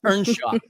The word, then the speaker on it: Earnshaw: pronounce it here, but as you would pronounce it in Wales, Ernshaw.